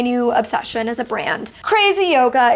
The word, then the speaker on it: CRZ YOGA: Crazy Yoga, it's CRZ Yoga. If you're trying to spell it out to search for it on Amazon, CRZ, Crazy Yoga.